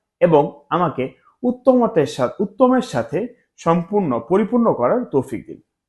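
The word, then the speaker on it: ث: হরফটা হচ্ছে আলিফ, বা, তা, সা, সা।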